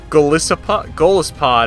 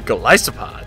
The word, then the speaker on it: Golisopod: Even worse than Golispod is called it. It's actually Golisopod.